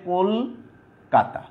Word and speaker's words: কলকাতা: এই চলিত ভাষায় আগের যে অটা আছে, কয়ের সাথে যে অটা আছে, সেটা উকারান্ত উচ্চারণ পাবে, তাইলে এটা হবে কলকাতা।